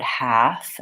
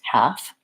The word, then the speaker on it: half: file we have half so many times people think they have to say the L in the word half and really it's just the three sounds H ah and half and then in addition